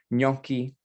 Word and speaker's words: gnocchi: It's a ñ sound, a long O, and then a hard chi at the end. It's 2 syllables, gnocchi, and the I at the end makes it plural in Italian.